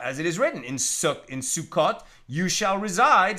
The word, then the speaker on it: Sukkot: And during Sukkot, or more Ashkenaz pronunciation, Sukkos, we are commanded to dwell in the sukkah.